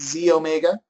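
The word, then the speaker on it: xEO Mega: one is the E it says XE Omega okay but we pronounce it Z Omega and this is your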